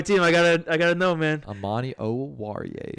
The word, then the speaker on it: Amani Oruwariye: And then we have this other guy named Amani Oruwariye, also very good. Hell yeah, But- you pronounce that name perfectly. Hey, he's on my team. I gotta know, man. Amani Oruwariye.